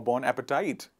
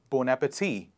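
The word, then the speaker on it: bon appétit: what do you say bon appetit or born appetite it is the right pronunciation is bow bow nap tea please repeat after me bon appetit it is not bon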